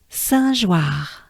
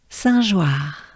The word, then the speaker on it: Saint-Joire: So it's wa, and the French R, which is yes, it's just a breath. R, war, joie, joie. Right? So as a whole, together, ensemble. Good breath. Saint-Joire, Saint-Joire.